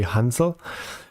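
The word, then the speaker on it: Hänsel: first time just now i noticed that sometimes i read it as hensel and cradle so please don't be confused sometimes i manage to say hansel most of the time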